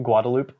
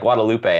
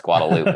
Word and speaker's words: Guadalupe: here I was like Guadalupe and every was like no no no no no it's guadaloop and I was like what yeah spelled Guadalupe but pronounced guadaloop for some reason uh anyway the uh